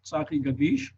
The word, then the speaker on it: Tzachi Gadish: to everyone gadish my real name pronunciation satin gadish very hard letters in my name however uh we saw